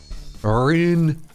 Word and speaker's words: Rune: You have to pronounce it extremely Scottishly. Arun.